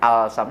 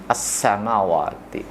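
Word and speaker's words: السماوات: Tidak dibaca al-sam tapi dibacanya as-samawati.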